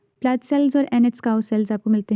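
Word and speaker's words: Anitschkow: wait a minute so एनट cow sales एनट काउ नहीं ऐसे नहीं टी को इतना प्रॉमिनेंटली प्रोनाउंस नहीं करना एंड इट्स काउ सेल्स ठीक है सो प्लट सेल्स और एन काउ सेल्स आपको मिलते हैं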